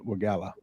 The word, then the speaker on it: Wegela: part of Romulus please welcome state representative Dylan wagala how you doing sir pretty good um first